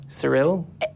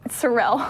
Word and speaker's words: Sorrell: sir else my last name o also pronounce it correctly god Cyril Cyril Cyril Erik did it wrong - at the